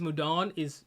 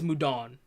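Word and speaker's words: Mudoon: I don't know how Hamon is pronounced, but I know Mudun is Mudon. Even though it's spelled with 2 O's, it's really just 1 O.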